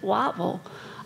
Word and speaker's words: Whiteville: One was a solo practice in Whiteville, and down there they pronounce it Wattville.